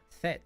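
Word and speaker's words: fête: like that no F that's not that's not fate the voice actor butcher butchered a line fet party it's French why why would they pronounce it fate probably because she's British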